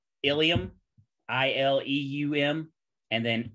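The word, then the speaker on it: ileum: And then homonyms are pairs of words that are pronounced almost. They're almost the same way, but they're spelled differently and have different meanings. An example of that would be like ilium, I-L-E-U-M, and then ilium, I-L-I-U-M.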